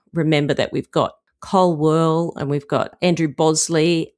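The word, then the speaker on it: Wehrle: Remember that we've got Cole Whirl and we've got Andrew Bosley, and is that how you pronounce his name? Is it Whirly? It's Cole Whirly.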